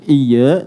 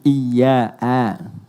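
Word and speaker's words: إِيَّاكَ: Bukan iya tapi iya a.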